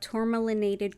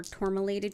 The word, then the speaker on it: Tourmalinated: We've got Tourmalinated Quartz, or Tourmalinated Quartz. It's pronounced both ways.